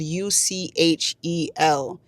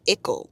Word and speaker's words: Uchel: And it's actually not uchel, it's like ickle or something like that.